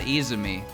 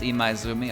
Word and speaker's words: Imaizumi: I know it's not Izumi. I know there's something between the I and the Z. It is Imaizumi, okay.